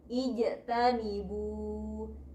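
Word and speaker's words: اجتنبوا: Nah, huruf ketiganya ini harokatnya selain domah, maka hamzah wasalnya menjadi kasroh, menjadi i. Bacanya ijtanibu, ijtanibu.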